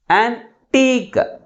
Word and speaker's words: antique: antique, antique. But which syllable is pronounced with a greater force? Second syllable is pronounced with a greater force comparing with first one.